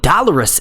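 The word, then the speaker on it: Dolorous: about the image of Dolores Ed and the remaining Night Watch members oh did I really say that wrong I meant to say dollarus Ed because that is the correct way to say it it honestly looks like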